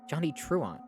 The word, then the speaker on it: Johnny Truant: on why is that message pinned I've been pronouncing his name right Johnny truant I've literally been saying that VOD Watchers as